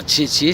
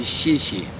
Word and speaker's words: xie xie: Et d'ailleurs, ce chi, c'est comme ça qu'on va prononcer le X en chinois.